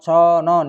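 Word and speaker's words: 천 원: Con won, conon, ini cara membacanya, tulisannya con won dibaca conon.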